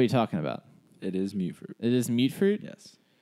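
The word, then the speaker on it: Mutfruit: way it is, but it's pronounced mute fruit, as it is mutated fruit.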